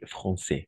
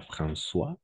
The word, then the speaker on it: Français: va ça fonctionne alors ici les Français d'accord pas François français tout simplement la combinaison des voyelles a et i on va prononcer toujours comme a ETI on va prononcer